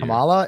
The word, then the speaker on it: Kamala: mispronouncing her name they know her name is Kamala Harris Why do you think they're mispronouncing it I think they're doing it purposefully